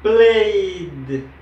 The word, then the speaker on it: played: Entonces sería played, played. En este caso, play en pronunciación sería como una D al final. Played, ¿ok?